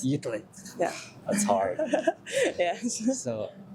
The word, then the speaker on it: Utrecht: Utrecht. Utrecht.